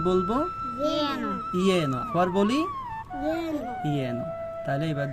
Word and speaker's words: যেন: তাহলে যদি লেখা থাকে যেন, তাহলে আমরা উচ্চারণ করব ইয়েনো। কি বলবো? ইয়েনো।